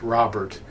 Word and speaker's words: Robert: was Kinley Robert uh has a French pronunciation it's like Robert and she was living